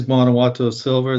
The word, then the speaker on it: Guanajuato: of VSA Capital, which is, and I always pronounce it wrong, but Guanajuato Silver. Yes, it is Guanajuato Silver, the TSX listed silver developer in Mexico.